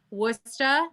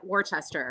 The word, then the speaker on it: Worcester: and then I also when I first saw Wooster I said Worchester Worchester that cuz I mean it's spelled wor c est er in it Swiss Twista